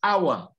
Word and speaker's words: hour: The first one is hour. The second is honest. The third is honor. These 3 words are the ones where you don't pronounce H. The rest, you must pronounce H.